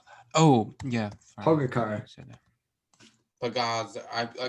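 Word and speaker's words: Pogačar: How do you spell that? Oh yeah. Pogacar. Pagaz. I called him Pagazar.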